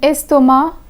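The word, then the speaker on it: estomac: avec is pronounced but the C in a stoma is silent chef and narrow chef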